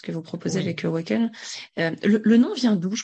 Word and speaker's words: AWKN: avec Awaken. Le nom vient d'où? Je crois que je t'ai pas posé la question, du coup. Je suis curieuse. C'est vrai, donc pour ceux qui nous écoutent, Awaken, ça s'écrit AWKN.